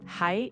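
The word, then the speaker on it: はい: Exactly. Hi is correct.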